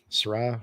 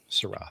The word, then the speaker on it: Syrah: kit right now uh we're making a schwa surah shraw syrah thank you and so maybe yeah i know